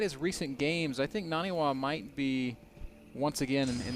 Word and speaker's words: NaNiwa: Sorry, Moro, I just said his name wrong. It's NaNiwa as the red Protoss over here on the right side.